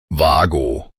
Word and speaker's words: WAGO: its name is pronounced WAGO. WAGO. The initial letter W is pronounced with a V sound, and both vowels are drawn out long and clear.